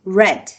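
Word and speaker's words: read: ayrılmak left p ödemek aynı şekilde yazılıyor ama Red diye okunuyor şey söylemek sen de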